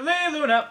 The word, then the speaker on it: Leigh Luna: Oh, we are here talking to Leigh Luna. That's how you have to say her name. Because she is... So I sound like Red Robin?